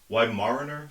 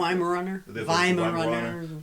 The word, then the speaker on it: Weimaraner: swans, which is the middle-aged couple with the Weimaraner, am I pronouncing that? Weimaraner.